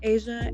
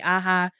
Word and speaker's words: Asia: I would be at tumbling competitions and they would be calling me aha.